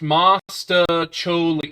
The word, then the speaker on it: mostaccioli: It's pronounced mostaccioli. Oh, mostaccioli.